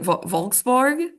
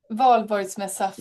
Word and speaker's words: Valborgsmässoafton: This is from, I can't pronounce the name of the holiday, but it's like Volksborg. Somebody Swedish, please correct me. Valborgsmässoafton.